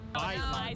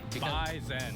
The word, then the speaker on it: Bison: Bison. Bison. And oh yeah, it's bison with a Z. Bisen. Bisen, not bison.